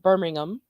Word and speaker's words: Birmingham: birminghammer because of course in England they do have a Birmingham but of course they pronounce it Birmingham um but you know me being from Birmingham Alabama I was just